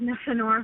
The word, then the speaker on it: Nefenor: And I apologize, Nefenor, if I'm not pronouncing that right. Are you there? No, you got it perfect. That's the right way to say it.